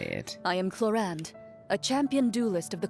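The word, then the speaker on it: Clorinde: decent healer regardless and now let's go with Claren or claron you know what while I'm debating how to pronounce her name with myself why don't I just hear her say it I am cland a champion duelist of the court of Fontaine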